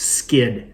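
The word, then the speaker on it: Skydd: This one happens to be called, I'm guessing it's pronounced Skid, S-K-Y-D-D.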